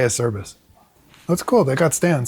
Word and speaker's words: Acerbis: They have a service stand in Italian. It's pronounced Acerbis. (What?) I said in Italian, it's pronounced Acerbis. But I just say a Acerbis.